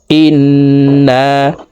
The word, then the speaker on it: ইন্না: ইন্না, ইন এখানে ওয়াজিব গুন্নাহ, 3 সেকেন্ড পরিমাণ গুন্নাহ করে পড়ব।